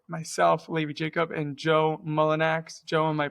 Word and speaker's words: Mullinax: Um, today we are here with myself, Lady Jacob, and Joe Mullenax. Joe, am I pronouncing that correctly?